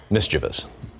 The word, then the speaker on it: mischievous: At least they kept it to 3 syllables. Mischievous. Instead of adding the fourth that a lot of people do.